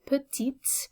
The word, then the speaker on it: petits: then i would say petits but i'm adding a silent s to the end so it's important for spelling not necessarily for pronunciation okay with the word